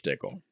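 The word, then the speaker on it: Dickel: how much George dickl are you just saying pickle Rhymes I've only had the the bottle and bond I've never had any other George dickle dickle rhymes with pickle that I like pickles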